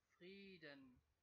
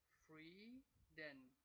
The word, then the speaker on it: Frieden: The long vowel E, so you would see the letter E as the reason for the sound E in free, but actually it is the I, because in German the I is the E in straight languages.